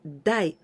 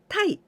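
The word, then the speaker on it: 台: always like this form we usually pronounce this country die but in rare cases we pronounce Thai but today we're gonna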